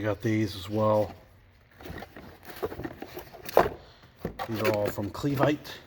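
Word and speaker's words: Clevite: these as well from cleave aight that's how you pronounce it I got this here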